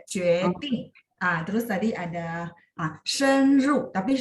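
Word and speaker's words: 决定: Nah kalau ini nada 4 memang dihentak, jadi kayak jueting.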